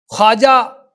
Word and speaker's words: خواجہ: ادا نہیں کریں گے۔ اسی طرح خواب، خواجہ، خار، درخواست، تو یہ واو کی آواز نہیں آتی ہے، جو آگے جو لفظ